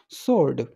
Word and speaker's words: sword: Wild माई स्वॉर्ड, अब देखो ये जो है SWORD है, इसको हम स्वॉर्ड नहीं बोलेंगे, इसकी जो करेक्ट प्रोनाउंसिएशन होती है वो होती है स्वॉर्ड।